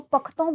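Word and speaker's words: Pashto: Alright, अगर इसकी हम ऑफिशियल लैंग्वेज की बात करें, बेसिकली ये पश्तो लैंग्वेज बोलते हैं। बेसिकली इसको पख्तों भी प्रोनाउंस किया जाता है।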